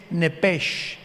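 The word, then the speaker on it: נפש: en el hebreo es nepes con s h al final Como suena nepes pero la sh en hebreo se pronuncia como J Entonces se pronuncia nepe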